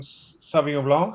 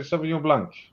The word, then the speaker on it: Sauvignon Blanc: We should try now the Reyneke Organic from the organic range, the 2021 Sauvignon Blanc, as we say in France, but you say Sauvignon Blanc, right?